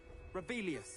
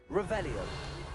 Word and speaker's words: Revelio: Rebellious. You're saying it wrong. Revelio.